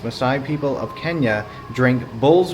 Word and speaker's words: Maasai: So believe it or not, the Maasai, I believe it's pronounced, Maasai people of Kenya drink bull's blood mixed with milk in the belief it will strengthen and protect them from evil.